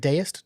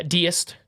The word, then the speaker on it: deist: religious belief is that is it deist did I say it right I think so yeah deist the deist like a deities like a deity yeah and sent the